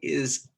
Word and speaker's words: hay: Okay, so this is actually, these three letters, H-A-Y, are pronounced I. So everybody repeat after me. I, like I, right? I, H-A-Y, I.